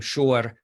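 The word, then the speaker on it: Schor: This is a page from the book of students attending Freiburg University, and you can say his name, Shor, by the way, spelled S-C-H-O-R, which is, of course, the German spelling.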